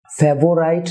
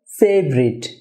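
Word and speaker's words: favourite: হবে morning walk deer ফেভোরাইট না হবে ফেভারিট ফেভারিট কারণ আমরা জানি যে ওয়ার্ডের মাঝে আর আসলে সেই আর এর আগে ভাওয়েল আসলে আর ওই ভাওয়েল সাউন্ডটি যদি আনস্ট্রেস সিলেবাল হয় তাহলে ওই ভাওয়েল সাউন্ডটি রিমুভ হয়ে যায় সুতরাং এটা হবে ফেভারিট ফেভোরাইট তিনটা সিলেবাল না হয়ে হবে দুটি সিলেবল ফেভারিট ফেভারিট ফিফথ না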